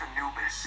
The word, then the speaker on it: Anubis: It's pronounced Anubis.